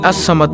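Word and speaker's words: الصمد: এই যে আল্লাহুস সামাদ, এই আস-সামাদ নামটি হলো আল্লাহর 99টি নামের মধ্যে একটি নাম। আল্লাহর এই গুণবাচক নাম আস-সামাদু এর জিকিরের আমল ও ফজিলত তুলে ধরা হলো। নামটির সঠিক উচ্চারণ হলো আস-সামাদু।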